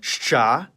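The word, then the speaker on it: Щ: It's called shcha, and like its name, it makes the sound sh.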